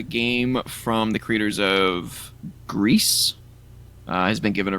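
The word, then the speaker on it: Gris: call you out but it's it's Gree on we're Canadian yeah no call me out I don't want to mispronounce it's French for gray dude oh so what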